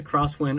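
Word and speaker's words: X-Wind: IND so tactically X win but it's a cross wind only because this is an aviator style watch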